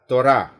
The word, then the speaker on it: Torah: Ejaan Ibraninya Taf, Vav, Res, He, dibaca Torah dalam bahasa Ibrani.